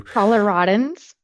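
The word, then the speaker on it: Coloradans: So, do Coloradoians Coloradoians, how do you say that? How do Coloradoans do they have an accent?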